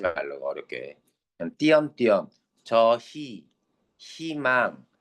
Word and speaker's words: 희망: 그냥 띄엄띄엄 저희 희망 다 뭘로 발음했어?